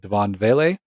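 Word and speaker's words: Devaughn Vele: and I'm gonna mispronounce this completely, but Devon Vele or Devon Vele, You got it one of those two.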